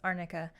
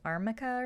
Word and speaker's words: arnica: But it was weird because like the attorney pronounced it wrong instead of saying Arnica. I think she was saying Armica or something weird.